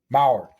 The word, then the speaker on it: Mauer: Joe, how do you pronounce it there, Trage? Mauer.